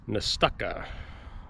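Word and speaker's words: Nestucca: seconds to ponder your fate okay so you pronounce the name of the bay nastaka don't know what it means but that's how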